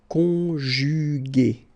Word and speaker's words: conjugué: Okay, second possibility here, you've got this accent aigu. So remember, this accent aigu is pronounced a, okay, and so you get the word conjugué, conjugué, okay.